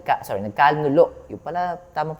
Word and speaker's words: nagkanulo: Judas Iscariot na siyang nagkanuno. Sorry, nagkanulo. Yun pala tamang pronunciation.